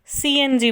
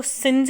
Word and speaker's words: CNG: जैसे compressed natural gas को CNG बोला जाता है, इसको सिंज नहीं बोला जाता।